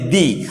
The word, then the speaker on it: the: এখন টিএইচই যদি ভাওয়েলের পূর্বে, এই যে আমাদের ভাওয়েল পেলাম, ভাওয়েলের পূর্বে টিএইচই থাকে, তখন তার উচ্চারণ হবে দি।